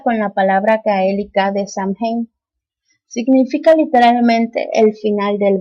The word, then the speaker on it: Samhain: pronuncia y parece que en varios lugares se pronuncia Samhain, pero creo que en Irlanda la M y la H hacen una U, entonces es Samhain, no sé, cosas raras, Samhain, como sea.